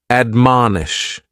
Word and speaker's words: admonish: The first word is to admonish and admonish has three syllables and the stress is on that second syllable. Man, admonish.